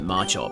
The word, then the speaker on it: Machop: I don't know why I stopped pronouncing it macho. It's obviously macho cuz macho chop. So, it's it's macho, you know.